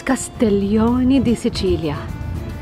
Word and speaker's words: Castiglione di Sicilia: now these are oh I said it wrong the dog I said it wrong it is castellon dilia and these are the